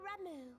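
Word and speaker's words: Ramuh: gizle greens floating ones that worship the Primal ra ah that's how you pronounce his name ramu though technically a beast tribe SS are blessed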